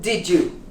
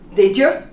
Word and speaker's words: did you: subtle j 100 hundred how about did you the y becomes a j did you and this it's almost like an a did you did you go to